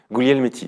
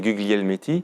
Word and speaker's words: Guglielmetti: Guglielmetti, exactement. Guglielmetti. Ouais. Ça s'écrit Guglielmetti et c'est Guglielmetti. Voilà, à la française, c'est Guglielmetti, oui. Mais à l'italienne, à l'origine, c'est Guglielmetti.